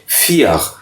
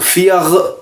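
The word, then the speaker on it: vier: तो फियग नहीं कहना, बहुत ज़्यादा गैन प्रोनाउंस नहीं करना है, तो अमूमन आप देखेंगे कि वो प्रोनाउंस जिसका जो प्रोनाउंसिएशन होती है फियख की वो फिया फियग फियग, बहुत हल्का सा आर आपने पढ़ना है।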